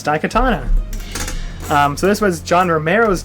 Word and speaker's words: Daikatana: Producer Tara, can you pronounce this? No. Daikatana? Perfect. That's exactly it. It's Daikatana.